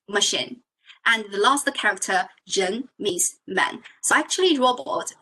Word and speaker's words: 人: It's pronounced like a 人. So start with R.